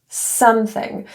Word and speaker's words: something: The O in some is pronounced as the carrot vowel, not the O. So something. So in this case, you're going to want to keep your lips in a very neutral position rather than rounded and tight.